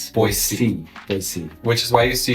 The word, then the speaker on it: Boise: So, you have to really pronounce the S. Boy. C.